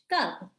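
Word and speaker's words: कब: It's pronounced cub, like a bear cub.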